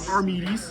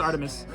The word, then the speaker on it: Artemis: I'm pretty sure they pronounce it Armides. Artemis. All right, it's Artemis.